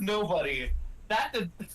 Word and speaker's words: Nobody: That's only one syllable. That's disrespectful. Nobody, if you haven't noticed, is 3 syllables.